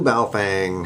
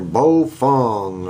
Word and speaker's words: Baofeng: So I will be using my brand new Baofeng, or Baofeng, I guess is the way it's pronounced. Russ told me.